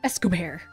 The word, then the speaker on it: Escobert: Escobert. By the way, it's spelled E-S-C-O-B-E-R-T. And so I look at it, I'm like, Escobar. Yeah, like that makes sense to me.